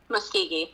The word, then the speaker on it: Muskogee: The legend has it that the Muskogee, is that how you say it? Muskegee. Muskegee, yeah.